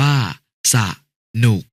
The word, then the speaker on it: สนุก: สงบ อ่าน ว่า สงบ สนุก อ่าน ว่า สะนุก สมอง อ่าน ว่า สะมอง